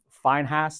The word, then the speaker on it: Phinehas: This righteous indignation pleased God when it was demonstrated through, I don't know how you pronounce it, but Phinehas, that's how we would pronounce it in English, in Numbers chapter 25.